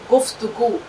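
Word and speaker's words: گفتگو: गाफ फे पेश गुफ ते जबरता, गावा पेशगु, गुफ्तगू।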